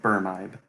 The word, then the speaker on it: Brmibe: pronounce your your name I have pronounced it berm eyed because when you mash my names together like that that's how it would be pronounced and that's just how